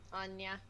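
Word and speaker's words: Áine: How do you get that Thought so. pronunciation out of AIN? There's supposed to be an accent on the A, and it's technically the English translation of a Gaelic name.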